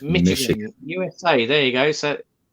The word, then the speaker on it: Michigan: It's pronounced Michigan. USA. There you go. So think of it as M-I-S-H, not C-H. Michigan.